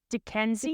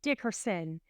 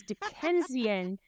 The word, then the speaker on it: Dickensian: Dickensian? Dickensian? I was saying Dickerson, but it's Dickensian.